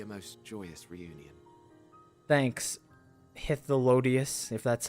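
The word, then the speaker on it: Hythlodaeus: Thanks, Hitholodius, if that's how you say it. For you, maybe. I want nothing to do with it. Oh, don't be that way. Hitholodius, that's how you say it.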